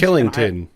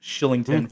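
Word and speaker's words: Kylington: of the Calgary Flames Killington it's it looks like Killington but I always hear it pronounced Shillington for okay whatever reason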